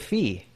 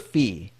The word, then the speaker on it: Phi: recently found out that it's called The Book of fee we've been saying it wrong this whole time really yeah so it's the book of fee and that's Phi and I found that